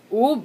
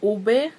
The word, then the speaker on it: ube: I'm like on the last video I uploaded, and you guys were telling me that oob is not pronounced oob, it's pronounced like ube.